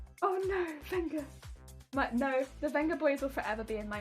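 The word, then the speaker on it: Vengaboys: Always strive for that gold standard of horn that the Venga boys has given us. Actually, the Venga boys. No, it's the Venga boys. The Venga boys. Oh. It's honest, the V is pronounced as B.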